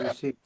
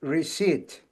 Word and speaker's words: receipt: Requesting a receipt. Can I get a receipt? Pronounce receipt. I say receipt. Receipt. Very very You have to be very careful here. You don't pronounce the P.